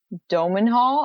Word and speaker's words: Domhnall: who played Mad Eye, his son Domenhall, I believe is how you say his name, played Bill Weasley later in the film.